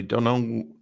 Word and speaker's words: Donal: uh strange flowers by Donal Donald Ryan mispronouncing his name from yeah Don Donal Ryan so Another Irish author